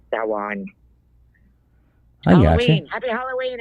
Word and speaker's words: Samhain: Happy Samhain, Samhain, however you want to pronounce it. I know the Muggles call it Samhain, so I figured I'd say it that way. But it's actually pronounced Samhain.